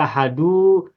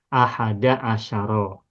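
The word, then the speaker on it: أحد عشر: ahad asyaro ini mabni tidak boleh ahadu tidak boleh Ahadi Asaro tetap tidak boleh asaru tidak boleh Asari dan juga tidak boleh bertanwin tidak boleh menjadi ahadu asarin tak boleh sehingga cukup bacanya satu saja satu macam yakni Ahada asyaro nah Ahada Asaro ini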